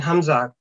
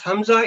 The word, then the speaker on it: hamza: or hamza with kunsan this samsa should be pronounced with the soft jack from the bottom of throat because hamza is always pronounced from the bottom of throat and a special care should be taken to avoid hamza sarkin sound pronounced as a letter iron and because iron and hamza are very near to each other hamza is from bottom